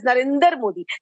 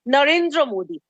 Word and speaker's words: Narendra Modi: your show he precisely he pronounces our honorable PM's name as Narendra Modi please tell him the name is Narendra Modi in case he doesn't